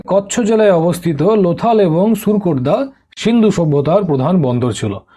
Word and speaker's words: সুরকোটদা: দেখো, এটাকে অনেক জায়গায় সুতকেদ্দাও বলা হয়, এর উচ্চারণটা সুতকেদ্দাও হয়, বাট ইংলিশে এটা SUR, সুর, KOTADA। ঠিক আছে, SURKOTADA, সুরকোটদা। ঠিক, তো সুরকোটদা, সুতকেদ্দা একই জিনিস, আলাদা আলাদা ধরে নিও না।